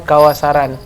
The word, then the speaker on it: kawasaran: kawasaran kawasaran gitu ya jadi dia dua suku kata kawak dana saran bacanya kawasaran kawasaran dia ini banyak juga